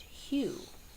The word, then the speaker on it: HU: you you just their website will be listed Hugh it's a love song to God all right we've heard of M People chanting M well you can chant Hugh hu all right but we pronounce it like